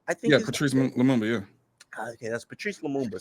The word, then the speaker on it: Patrice Lumumba: I think it's Patrice Lumumba? Yeah, Patrice Lumumba, yeah.